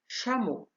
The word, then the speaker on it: chameau: مثلا حرفي CH تعطي صوت ش كما في chameau.